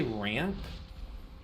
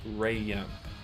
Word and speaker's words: ramp: I say things um how I say ramp ramp like here we're starting our ulon ramp they say I say it with um two syllables Ray yamp um if you go